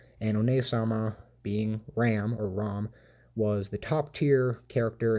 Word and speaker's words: Ram: now we have a Ram ROM its ROM but everyone pronounces a tram like a like a sheep or a mountain goat but she's no goat